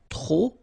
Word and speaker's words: trop: Okay, remember, too many, trop, don't pronounce the final P.